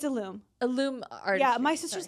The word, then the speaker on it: Ilume: It's Ilume.